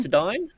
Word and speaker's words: Considine: Patty, how do you pronounce his last name? Considine? Considine?